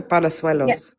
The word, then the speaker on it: Palos: Is it is it palooas or palos? You're correct. Palos. Yeah.